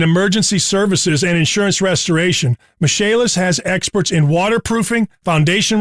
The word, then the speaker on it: Michaelis: incredible professionalism in emergency services and insurance restoration michaelis has experts in waterproofing foundation repair mold remediation indoor air quality and general contracting spelled m i c h a e l i s pronounced mache list call 844 fix indy that's 844 fix indy